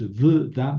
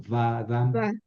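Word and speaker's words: וָדָם: Entonces no es v dam, sino va dam.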